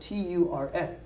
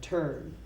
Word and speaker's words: turn: how I pronounce turn it's not T it's it's spelled tu RN but I pronounce that ter in turn turn I will turn on it has nothing